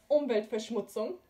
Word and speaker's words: Umweltverschmutzung: Okay, so we know that so a TZ is pronounced T. Okay, so velvet schmutz. Oh my god. Okay, so it's pronounced Umweltverschmutzung.